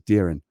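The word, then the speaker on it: Doirean: birthday well happy birthday my name is d-o-i-r-e-a-n and luckily this pronunciation there says darin happy birthday darren hope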